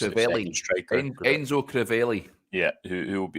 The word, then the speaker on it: Crivelli: I think it's Crivella or Crivelli, it's pronounced. Crivelli.